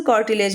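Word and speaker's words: cartilage: ये मैं बस याद करने के लिए बता रही हूं। प्रोनाउंसिएशन कॉर्टिलेज होता है। लेकिन मैंने याद करने के लिए कार्टिगे आपको बता दिया है।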